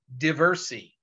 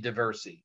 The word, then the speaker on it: Diversi: One record type I did not mention, you might want to scribble this down somewhere, is called Atti Diversi. Not spelled like the street in Chicago, D-I-V-E-R-S-I.